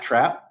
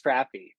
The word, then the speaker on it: Trappe: yeah there's so I I've gotta correct you on my name too it's trappy I was it's totally